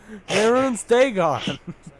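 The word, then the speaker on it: Mehrunes Dagon: Dang it, you pronounced it correctly the last time. Maroon's Dagon.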